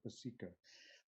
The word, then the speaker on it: upasika: Actually, I just point out that if we use the correct Pali pronunciation, where the accent is on the next to the last syllable, in English, upasaka and upasika, don't sound very different.